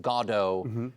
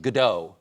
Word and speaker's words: Godot: Let's start with how some might be surprised that it's pronounced Godo instead of most people in America, they think of uh GDAU.